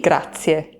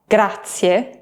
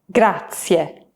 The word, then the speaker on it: grazie: But in Italian, we say, sì, grazie, which literally means, yes, thank you.